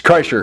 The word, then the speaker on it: Kreischer: I'm making sure that I pronounce his name right. It's Kreischer.